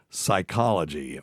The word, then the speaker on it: psychology: So words beginning with PN or PS have silent P in English, such as psychology or psalm and pneumonia.